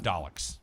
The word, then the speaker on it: Daleks: animated series called daleks is that the proper pronunciation yes i have daleks okay these are the bad robots on doctor